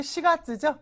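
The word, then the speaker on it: 四月: 그다음 한자 볼게요 자 요거 4월 할 때 시가 즈죠 시로 읽는다는 거 이거 용 가지라고 안 한다는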